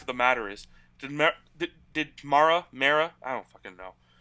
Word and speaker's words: Mara: type forrest mayor's hand mara's hand however you want to pronounce it m-a-r-a mara mara joe judge also had